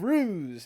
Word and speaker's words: Rhues: I just wanted to make sure that I pronounce the Art of Rhues, all that stuff.